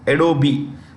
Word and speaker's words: Adobe: is the CE of adobe the E is pronounced Adobe okay CEO and chairperson